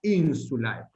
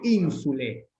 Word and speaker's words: insulae: Lo que podemos decir, si optamos por una pronunciación llamada eclesiástica, lo pongo entre comillas porque es complicado que es simplemente eclesiástica, o sea, una pronunciación más tardía, si se quiere, podemos decir ínsule. Decir ínsule no es ningún problema. Lo que no podemos hacer es decir ínsula, por ejemplo, porque eso es el singular, ¿sí?